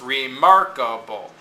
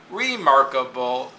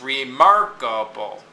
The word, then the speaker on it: remarkable: Re is this prefix, so it's unstressed. Mark is the base word. And then able, or able, is unstressed. Because even though it's two syllables, the able is operating as a suffix here. So remarkable. There's only one stressed syllable in this, because these two syllables are the suffix, and this syllable is operating as a prefix.